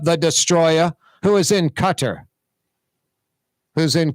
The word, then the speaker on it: Qatar: Destroyer who is in Cutter who's in Qatar cutter Qatar I guess is how you pronounce it everybody says cutter Qatar she's in Qatar